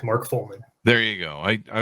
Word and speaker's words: Follman: chris thanks for coming did we get the pronunciation your last name right right yes correct mark fulman there you go i i was i sometimes